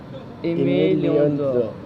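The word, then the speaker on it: Aimé Leon Dore: How do you pronounce this? Aimé Léon d'Or.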